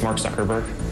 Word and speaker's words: Mark Zuckerberg: have it on tape if uh sure it's Mark Zuckerberg how would you like to be identified your